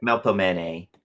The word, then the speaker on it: Melpomene: Melpomene.